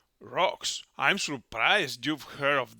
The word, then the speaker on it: Rox: But in the anime, here in the original version, they pronounce it with R. By the way, the kanjis of the name in the translators result with an N in X, so it is Rox, R-O-X, and this is the way we're going to use.